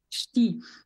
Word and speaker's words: Ch'ti: Exactamente, Ch'ti. Parece un esternudo.